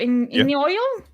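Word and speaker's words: Iñigo: He spelled it Inigio. Inigo? Inigo. Oh, that's how you say his name.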